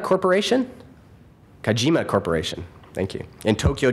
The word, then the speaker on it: Kajima: wlc architects in Rancho kukamonga California did I pronounce that right kukamonga and 10 years practice with kayima Corporation kajima Corporation thank you in Tokyo Japan he spent